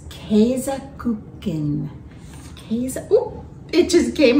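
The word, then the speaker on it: Käsekuchen: our beautiful cake and i double checked how to say this in german it's keizaken okay it just came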